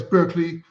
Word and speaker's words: Berkeley: you're right I mean I used to live in Barkley we pronounce it Barkley in the UK but it's of course the original Place Berkeley you know Berkeley um there's with Virginia